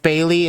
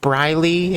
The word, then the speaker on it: Briley: Lacey, Lucy, I love you, but it's not pronounced Bailey, it's pronounced Briley if you actually give a shit.